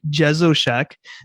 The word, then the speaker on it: Jesowshek: wind so i will say it's it's jezoshak and honestly when people look at the name